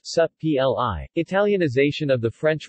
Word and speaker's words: Supplì: subtly pronounced sub PLI italian ization of the